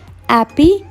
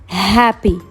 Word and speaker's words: happy: Attention, on prononce bien le H. On ne dit pas happy, mais on dit happy.